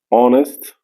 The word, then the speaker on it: honest: H est mué la même chose aussi pour l'adjectif honest euh même si l' mot commence par la h mais il est mué donc bref nous avons